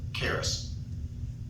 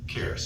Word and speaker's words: charis: The I is a long E.